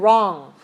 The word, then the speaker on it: wrong: okay long and strong how about WR 0 ng rah rah rah uh-huh right and wrong right and wrong right